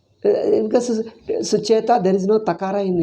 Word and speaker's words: Sucheta: Because Sucheta, there is no takara in English. You have to write to T. How does he pronounce it? Suchit it is. Sucheta Kripalani.